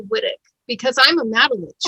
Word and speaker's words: Whytock: it's scottish right and if you go to scotland people will be like um they know right away how to pronounce it here everybody's like why talk white yeah i know